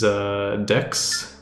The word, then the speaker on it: Decus: Here is Dex. I always like, they pronounce his name Dex, but it's like, it looks like Decus, you know.